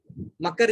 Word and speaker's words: मकर: मकर जिसको बोलते हैं, मगर नहीं है, मकर है, यहाँ पे थोड़ा स्पेलिंग मिस्टेक है।